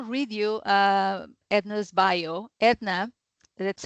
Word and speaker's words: Eithne: Edna that's how we pronounce her name uh from Galway in the west of Ireland with 35 years experience and the background in computer science.